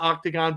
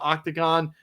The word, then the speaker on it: Octagon: The fact she fought for Octagon, not Octagon, but Octagon, yes. Which is still a good promotion, right? That's the Kazakh version of Octagon.